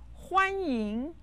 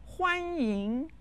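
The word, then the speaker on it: 欢迎: welcome please come in huan ying ching jin huan yin means welcome ching jin means please enter let's learn the phrase is said with the first and the second tone listen huan ying huang ying repeat after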